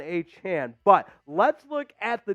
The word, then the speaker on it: Achane: to later on about how he wants his name to be pronounced so on Sunday it was Devon AJ now it's Devon H hand but let's look at